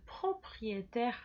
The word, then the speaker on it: propriétaire: usted está bien, le propriétaire de la carte bancaire. Sí, que es dueño. Le propriétaire. Repita conmigo. Propriétaire. Como viste aquí, ahí siempre se pronuncia E. Propriétaire.